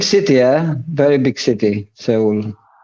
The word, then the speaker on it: Seoul: Seoul. You said that very well, Adam. You said it just like a Korean. You said it with a 2 syllables.